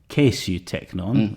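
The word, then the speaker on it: καὶ σὺ τέκνον: So in Greek, kai su teknon, or perhaps at this stage it would have been pronounced kesu teknon, rather as modern Greeks do, means literally and you son.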